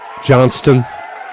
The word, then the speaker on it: Johnston: Jan Johnston. Yeah. I think she came up to me one time and said the T is silent, but I could be wrong about that.